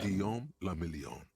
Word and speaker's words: Guillaume le Million: 레바솔이 의미하는 Guillaume le Million. If it doesn't rhyme, you're not pronouncing it right.